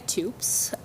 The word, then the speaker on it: Toups: I'm Toups, spelled like soups, but with a T.